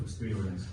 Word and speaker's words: experience: a new type of experience. Experience, проговори, пожалуйста, experience. Да, как English, первая буква И зачастую дает именно звук И. Это мы часто русскоязычные даем неверный вариант, вот это Да, то есть опыт.